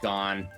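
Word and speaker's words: Gane: is that how it is gone yeah it's pronounced gone but it's felt game for sure and then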